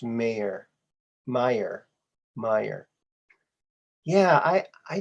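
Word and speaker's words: Mayer: oh oh it was always spelled m-a-y-e-r but pronounced mayor meyer meyer yeah i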